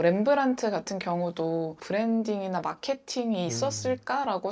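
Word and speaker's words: Rembrandt: 뭐 렘브란트 같은 경우도 브랜딩이나 마케팅이 있었을까라고 생각할 수도 있지만 일단 본인 이름에다가 묵음인 D를 넣어서 조금 브랜드명의 차별화를 두기도 하고 당시 화가들은 다 이탈리아로 유학을 떠났는데 렘브란트는 아예 네덜란드를 안 벗어났었거든요.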